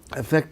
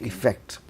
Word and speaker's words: affect: Always remember the pronunciation is also slightly different. It's affect, not effect.